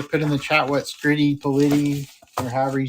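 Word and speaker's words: Scritti Politti: Can it be pronounced either way? No, it's Scritty Politi.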